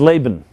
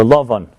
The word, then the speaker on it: Lavan: And his name is Laban, or Lavan in Hebrew. the Hebrew pronunciation.